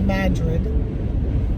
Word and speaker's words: Madrid: It's called Madrid.